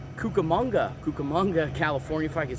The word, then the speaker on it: Cucamonga: for the third year sophomore out of Rancho cucamanda Cucamonga Cucamonga California if I could say it right